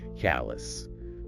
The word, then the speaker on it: callous: Stress the first syllable. C-A-L-S. And again, reduce that ending. Callous. Callous. The source noted Spanish-Italian speakers might need to watch that ending. It's not a full ows sound. Just A-S.